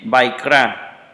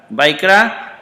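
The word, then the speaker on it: ויקרא: Otra vez, y la A, esta no se pronuncia, entonces se lee Vaikra, ¿verdad? Vaikra llamó.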